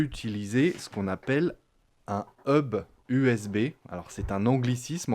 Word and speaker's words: hub: ce qu'on appelle un hub USB. Alors c'est un anglicisme encore, sauf qu'on ne prononce pas le H, donc c'est un hub USB.